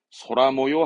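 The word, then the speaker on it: 空模様: 발음은 소라모요 합니다. 모양 발음 챙기세요. 모요. 그래서 소라모요. 하늘 모양의 날씨. 소라모요.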